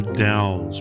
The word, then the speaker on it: The Dalles: We are at the Dalles, rhymes with pals.